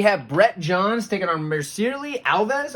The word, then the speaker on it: Mircea Alves: We have Brett Johns taking on Mircea Alves. I think is how you say that one.